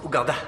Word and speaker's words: Ouganda: Ça se prononce Ouganda.